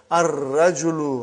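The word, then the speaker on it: الرجل: Now we have sun letter ar-rajulu waqifun. Brother, as-sukkaru.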